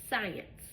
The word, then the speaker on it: science: For example, science. Science. I only hear an S.